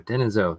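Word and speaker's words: Denisovan: Neanderthal and then denov denisen there we go denisen that's how you say it and that looks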